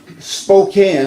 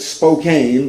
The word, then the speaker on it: Spokane: texas and yesterday morning i left uh um spokane almost said spokane but they reminded me that it's pronounced spokane i left spokane washington which is on the